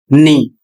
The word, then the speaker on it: knee: यहां लिखा है के एन डबल ई और इसका उच्चारण होगा नी। बहुत से लोग क्या करते हैं? के का उच्चारण कर देते हैं। जबकि के अक्षर का उच्चारण नहीं करना है।